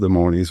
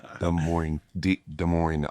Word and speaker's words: Des Moines: It's spelled Des Moines, right? That's never heard that ever. Des Moines, Iowa is what it's called.